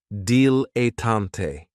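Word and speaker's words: dilettante: And this word has three syllables. And there's kind of like a stress on that first and last syllable. Dilante.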